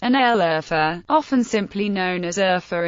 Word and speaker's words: Şanlıurfa: Şanlıurfa, pronounced Şanlıurfa, often simply known as Urfa in daily language.